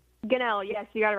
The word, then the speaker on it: Gunnell: I hope I'm pronouncing your last name right. Is that correct? Gunnell, yes, you got it right, sir.